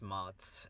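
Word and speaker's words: Mads: of your kindness so my name is mods it's uh m a TS but pronounced like the applesauce so yeah Ms and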